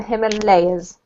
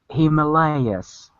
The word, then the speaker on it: Himalayas: This is Himalayas, the Himalayas. Himalayas.